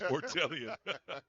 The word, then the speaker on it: Fortian: that's 16 Jonas fortian is that fortian or foron it's fortian they've got two different